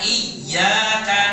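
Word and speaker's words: إياك: ada tanda tasydid siddah artinya kalau ada tanda tasydid ada sudah cara bacanya harus ditekan ditekan bacanya iyatana budu wa iyyaka nasta'in kalau tidak ditekan maknanya bisa bikin kita murtad kalau ditekan artinya hanya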